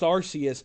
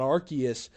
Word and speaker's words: Arceus: Arceus and yes Matthew it is pronounced Arceus not Arceus it's all good we'll